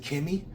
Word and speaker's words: Kemei: These is I pronounce it Kemei.